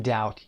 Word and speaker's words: doubt: When in doubt یعنی وقتی که در شک هستید. Doubt همون موضوعی هست که در قسمت بالا گفتیم در pronunciation silent consonants داریم. B اینجا تلفظ نمیشه. Doubt B رو نمیخونیم. Doubt.